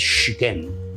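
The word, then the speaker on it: Siquem: Siquén, que en realidad la pronunciación de ese lugar es Siquén, Siquén. Apéame y puro y la Siquero, ¿verdad? Siquén. Esa es la verdadera pronunciación, ¿verdad?, de este lugar, Siquén.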